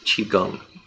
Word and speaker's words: Qigong: So for the past year, I've been doing a form of exercise that's called Qigong. It's Q-I Gong, G-O-N-G. Qi, Q-I is pronounced Qi Gong.